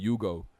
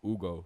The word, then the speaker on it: Ugo: People were saying Yugo. So I'm like, I need to make a song to teach people how to say my name right. It's Ugo.